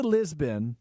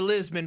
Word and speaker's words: Lisboa: Something we couldn't talk about until today, now that you're back, is you went to Lisbon. Lisboa. Lisboa. Yeah, that's how literally how you say it.